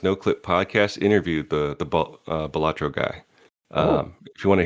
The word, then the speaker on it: Balatro: Is it Balatro or Baltaro? Balatro, I think.